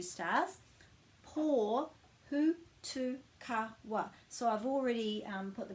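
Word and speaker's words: Pōhutukawa: But you might pronounce that as Pāhuta Kawa. But it's actually pō, and there's a macron over the O, so that's where the stress is in the word, the emphasis.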